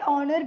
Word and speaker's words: honor: Despite its spelling, the word honor begins with a vowel sound.